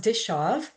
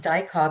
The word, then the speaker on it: Dichov: It is pronounced Dishaw. And Thank you. it pronounced Dyckhoff in the past by teachers so no problem.